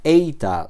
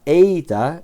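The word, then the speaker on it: ήτα: Eita. Lailon es la e breve. Ésilon. En cambio, la eita es la e larga como en reino, ¿vale?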